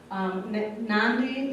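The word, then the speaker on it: Nadi: it's felt na VI but it's pronounced with an N and they do a lot of that with their because kedah who is actually coming down ooh na kadavu Nandi is actually way on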